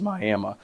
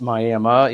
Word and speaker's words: Miami: will know it is Miami. Just a little bit of information for you if you're new to the area. Northeast Oklahoma, it's one of those towns where it's Miami, even though it's spelled Miami.